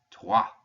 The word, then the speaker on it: trois: So you're actually pronouncing TRWA, trois, when you pronounce this one. And again, just like I said before, the S, since it's the last letter in the word, is silent. So trois.